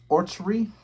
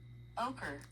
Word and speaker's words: ochre: Orchery. I need to know how to say this word. Or tree. Or tree. How you say this word. Ochre.